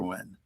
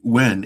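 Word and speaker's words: Huynh: Wynn. Let me make sure I say his name again. Dr. Carson Wynn, H U Y.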